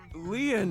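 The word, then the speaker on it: Lien: My name Lean is spelled L I E N in French.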